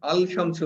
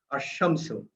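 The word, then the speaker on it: الشمس: তাসদিদ যুক্ত হবে এবং সেটা ডাবল উচ্চারণ হবে। যেমন আল আশামসু, আল শামসু হবে না, আশামসু, আন্নুর, এই শব্দগুলো আমরা দেখব।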